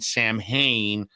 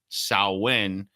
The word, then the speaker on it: Samhain: swind section of Wicky right over here uh sawin a Scottish gelic uh and it's weird how it's written but how it's pronounced right it's written Sam Haye but pronounced sawin uh so anyway so this is part of